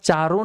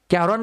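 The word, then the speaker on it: Charon: तर पर्याय क्रमांक डी चरोन म्हणा किंवा चारण म्हणा काही हरकत नाही सी एच ए आर ओ एन कॅरॉन कोणी कोणी म्हणू शकतं बरोबर तर या ठिकाणी स्पेलिंग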